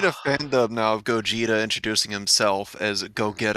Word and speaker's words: Gogeta: you pronounce it then it's gogeta but you're pronouncing it like a sudden or slurring go-getter well i'm about to